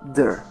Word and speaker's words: there: Para pronunciar a palavra there, você coloca a língua entre os dentes no TH e soa com o som de Z. E a letra E tem uma ênfase maior ficando there.